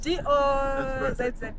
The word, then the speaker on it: Dozza: Is that how it's pronounced? It is. D-O-Z-Z-A. Yes. Dozza.